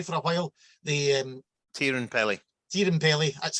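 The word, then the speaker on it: Teerenpeli: Was it Terran Pepe for a while? The Tierenpeli. Tierenpeli, that's how you pronounce it.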